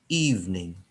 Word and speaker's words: evening: Hai jadi Hening John evening wear Jadi terlihat seperti ada tiga suku kata kita bacanya dua suku kata saja Hai jadi min-joon jadi